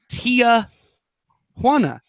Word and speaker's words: Tijuana: So commonly we have people who say Tia Juana, and it is nobody's aunt. It is a T and a Juana. And you can say it in any accent that you like.